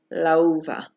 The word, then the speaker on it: la uva: Example A, la uva, la uva. Lau is one word, it's one syllable, and va is the second syllable.